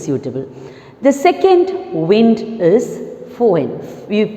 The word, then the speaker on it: Foehn: The second wind is Foehn. We pronounce it as F-O-E-H-N. It is pronounced as fun.